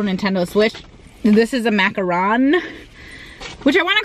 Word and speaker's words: macaron: a different thing but when I say macaron I kind of feel like a pretentious little a-hole which I'm not or am I I don't know I don't like saying it right because everyone says it wrong I just want to